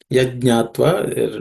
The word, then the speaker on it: Yajñātva: Yajñātva, no aspirated consonant, so it should be rather simple.